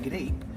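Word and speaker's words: Greip: Because then if you don't speak English in your Spanish and you pronounce it grape, it sounds like you're saying grape.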